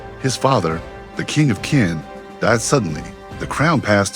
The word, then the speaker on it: Qin: And in the western kingdom of Qin, pronounced Qin, in the 59 BC, a baby boy named Ying Zheng was born.